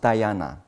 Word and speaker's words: dhyana: And also in Sanskrit, it pronounced dhyana, but in Pali, it pronounced jhana.